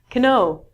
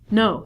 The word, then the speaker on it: know: like Kim know what Cano however we don't say Cano we reduce this to know so not only the beginning letter K is silent but W is also silent so instead of saying